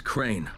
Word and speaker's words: Crane: My name's Crane. Crane rhymes with train and brain and sane and grain and rain and plane and the other kind of plane.